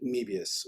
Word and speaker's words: Moebius: He pronounced it Moebius, but it's a made up word. Just think of it. Yeah, an absolute icon. The powers behind Moebius were due to his ability to do exactly what I'm talking about.